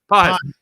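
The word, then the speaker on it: Pagés: Pajes.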